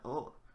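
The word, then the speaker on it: を: You can't say war, sort of. You can emphasize the W, but it's mostly just the oh. Usually pronounced O.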